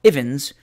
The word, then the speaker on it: Evans: Miss Evans, or Ivins, to adopt the pronunciation most in vogue with her circle of acquaintance, had adopted in early